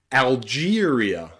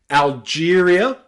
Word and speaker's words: Algeria: E and R together can sometimes be pronounced with the diphthong ear. So look at words like Algeria, Algeria. It's not Algeria, and it's not the long E either. We don't say Algeria, we say Algeria.